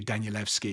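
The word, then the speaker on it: Danielewski: you pronounce her name told me that I was saying the name Daniel uh very embarrassing is actually danieleski he's a Polish writer just while I'm on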